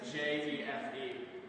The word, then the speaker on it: jefe: And it wasn't even spelled like in Spanish. It was Jefe. Isn't that that's Spanish? Spanish. No. Yeah. Yeah. J makes an H sound.